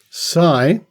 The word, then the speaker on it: psi: they call it psy which rhymes with psy psi which is spelt p s i extraordinary perception or esp